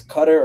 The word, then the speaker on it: Qatar: I I know this doesn't start with a Q. It's cutter or however you want to pronounce.